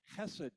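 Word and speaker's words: חסד: there is covenant loyalty hebrew speakers say something like hessed to use to describe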